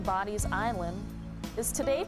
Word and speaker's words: Bodie: The original name, Bonny's Island, is today pronounced Bonny.